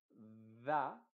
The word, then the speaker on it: the: Excepto la palabra da, que acá se está pronunciando como di, porque esta pronunciación o esta palabra tiene dos pronunciaciones, una es da, cuando la siguiente palabra parte con consonante, como the car, por ejemplo, el auto, o the computer, el computador, en este caso sería the apple.